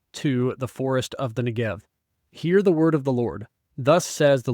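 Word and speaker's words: Negev: the NGB in Hebrew the BET which acts as this B on the end of NGB can be pronounced either as a b sound or a v sound continuing on in verse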